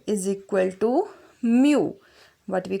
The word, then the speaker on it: mu: This is the symbol and we pronounce it as mu.